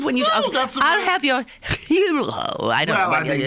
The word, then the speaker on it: gyro: is their wonderful sandwich they hero I think is how it's properly pronounced yeah but I asked